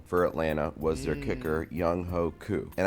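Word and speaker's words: Younghoe: Atlanta was their kicker Yung Ho cou and I know it's pronounced young way but it's spelled like y ho and you know who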